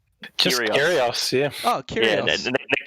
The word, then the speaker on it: Kyrgios: Just Kyrgios, yeah.